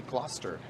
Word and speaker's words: Gloucester: Rochester not Gloucester no there's a debate over how to pronounce the street name but I found a random online reference that said how to pronounce difficult Toronto street names and this was very clearly Gloucester just take Gloucester well